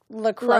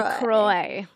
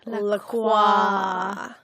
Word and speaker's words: LaCroix: And we did just confirm that it's pronounced LaCroix. LaCroix. Even though I want to say LaCroix.